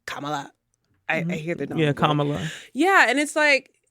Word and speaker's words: Kamala: And respectfully, Kamala, I always say it wrong. Kamala.